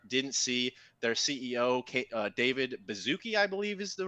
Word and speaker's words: Baszucki: Recently, if you guys out there didn't see, their CEO, David Baszucki, I believe is the right way to say